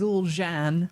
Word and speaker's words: Zul'jan: I think the proper pronunciation is Zul'jan.